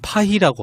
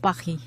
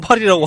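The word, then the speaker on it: Paris: 프랑스 사람들이 파리를 파히라고 한다고. 빠히. 예. 정말 놀랐다. 우리만 파리라고 하는 거야.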